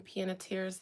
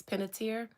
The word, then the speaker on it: Panettiere: It is another reason I don't want to talk about Hayden Panettiere's death.